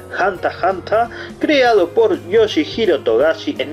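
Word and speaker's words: ハンター×ハンター: Al costado, además del espacio de las figurinhas, vamos a tener el título original, lo tenemos pronunciado en japonés, Hanta Hanta, creado por Yoshihiro Togashi en 1999.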